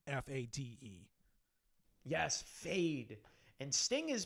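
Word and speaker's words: Feyd: the barons younger nephew um his name is fade in the movie like i know it's spelled f-e-y-d but it's pronounced at like f-a-d-e yes fade and sting is basically utilized to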